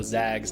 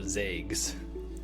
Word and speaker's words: Zags: Additionally, if you want to shorten the name, it's Go Zags, not Go Zags.